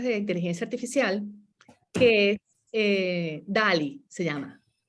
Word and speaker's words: DALL-E: inteligencia artificial, que es DALL-E, se llama. DALL-E, que se escribe D-A-L-L y luego separado E, así como el robot Wall-E.